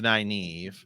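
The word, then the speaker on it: Nynaeve: don't even like that we call it naive it's not it's you know but that's how they say it in the show so deal with it so yeah deal with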